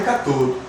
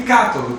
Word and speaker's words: cátodo: Cuidado, tem gente que pronuncia anodo e catodo, mas não é anodo e catodo, é ânodo e cátodo. Tem um baita de um acento, né, nasal no ânodo e um acento aberto em cátodo.